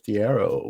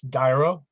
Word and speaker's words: D'airo: to the show dearo what's happening hello Mike how are you I'm great am I pronouncing your name correctly it's uh it's dyro dyro okay see I knew